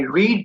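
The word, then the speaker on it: read: Now Nilesh से आई रीड book, नहीं, रीड का जो सेकंड फॉर्म होता है that's called रेड, spelling same रहता है बट the pronunciation is different.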